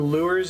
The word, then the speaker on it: lure: Well, how do you pronounce S-U-R-E? Sure. So lure.